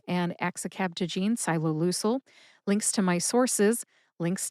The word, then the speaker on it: ciloleucel: In the show notes, you will find the written pronunciations for Yescarta and axicabtagene SYE-loe-LOO-sel, links to my sources, links to the other